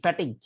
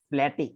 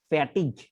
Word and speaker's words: fatigue: একটু লিখে নিতে পারো, FATIGUE, ফ্যাটিগ, ঠিক আছে? ক্লান্তি, অবসাদ, নিস্তেজ হয়ে যেরকম ভাবে পড়ে থাকে সেটা ব্যবহার হয়। ফ্ল্যাটিক, কি বলে, ফ্ল্যাটিক না, ফ্যাটিগ, ঠিক আছে?